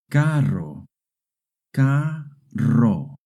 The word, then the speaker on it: carro: Remember, two Rs together make a rolling R sound. Caro carro. Now you try.